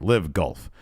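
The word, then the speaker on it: LIV Golf: Investment Fund, bankrolled uh, is this is this pronounced live golf or lif. All right. Live golf.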